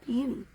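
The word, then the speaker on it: Peni: And the reason her name is spelled that way is because she was named after Spider-Man, Penny Parker. I wanted to name her Penny anyways, but my kid was really into Spider-Verse at the time when we got her. So Penny Parker's name is spelled P-E-N-I. All right. So she's Penny.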